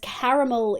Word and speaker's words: caramel: So when I say when I read C A R, it's car for me. Whereas caramel is like a c a h sound like c like a short a rather than a long a caramel.